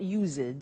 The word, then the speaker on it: used: It's U-S-E-D and then T-O. But the pronunciation is not used, it's used.